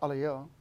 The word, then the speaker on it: alaia: people call in Alaia it's actually if you pronounce it's a Leo right it's talking about the path of the